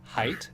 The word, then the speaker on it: Haidt: I think his last name is pronounced Haidt, Haidt, and he's very.